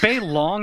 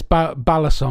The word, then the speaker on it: balisong: Is it bay long is the correct term from that, and butterfly is the anglicized term, I think? It's balisong. Balisong.